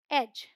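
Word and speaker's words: edge: Rule क्या है, डी is silent before जी। मतलब जी से पहले डी आएगा तो साइलेंट होगा। या फिर आप ऐसे भी समझ सकते हैं कि डी जी ई है तो उसका साउंड है ज। ऑल राइट, डी नहीं बोलेंगे। तो ये है बैज, हेज, वेज, एज।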